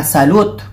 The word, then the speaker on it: salut: So, pag nakita mo siya, salut, which is wrong. Salut is pronounced as salut, hi pa rin yun.